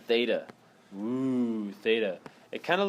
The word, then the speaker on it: theta: it the Theta okay this is how you spell Theta guys so you guys get used to it t h e t a that's how you say it Theta okay theta equals what's